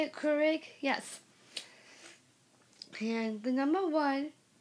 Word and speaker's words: Keurig: that copied I made it with my um Keurig I think that's how you say it Keurig yes and the number one these are the